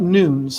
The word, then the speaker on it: nun: This is about noons, actually. That's how that word's pronounced.